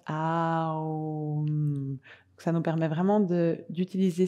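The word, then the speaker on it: Aum: Donc, comme il s'écrit des fois de différentes versions, on a juste le chant Om, O-M, et on a le chant Om, A-U-M, qu'on prononce A-O-M.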